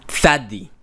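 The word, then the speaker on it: צדי: Anyway, this is Thadi in modern Hebrew, and how Israelis, Jews, pronounce this. Thadi.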